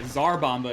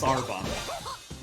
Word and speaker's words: Sarbomba: And yeah, Zarbomba is like the Americanized, it's like the westernized version of pronouncing that first letter, that first sound, but it's Sarbomba. Sar. Oh. Yeah, the way the correct way of saying Sar is Sar, not Zar.